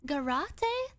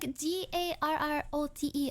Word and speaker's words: garrote: You can get up behind them and how do you pronounce this word? Garrote? Garate? It's like Garrote.